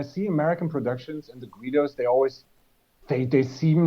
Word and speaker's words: Guido: Yeah, but it's actually pronounced Guido. Yeah, there you go. Okay. So there's no W, and it's not Gui, so it's just Guido.